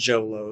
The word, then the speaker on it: Xolo: XOLO is I think it's Jolo is how you pronounce it.